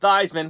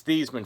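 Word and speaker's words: Theismann: and he's played alongside joe thiesman it's not theisman because theisman rhymes with heisman it's thiesman folks uh joe thiesman playing here uh in south river high school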